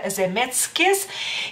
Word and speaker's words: Zemeckis: más corto osea roberts no sé cómo ustedes pronuncia en su apellido pero nosotros lo pronunciamos a robert zemeckis y después es el